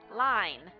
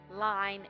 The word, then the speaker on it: line: the word line today line that sounds like dine fine mine nine Pine wine so we have that long I sound line and the E is